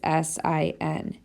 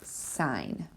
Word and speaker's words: sine: okay the abbreviation is s i n now because people see the abbreviation they think it's pronounced sin it's not it's sign then there's cosign that's